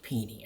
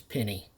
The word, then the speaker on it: Pini: Yeah, I learned that that's pronounced Peony after years of mispronouncing it as Penny.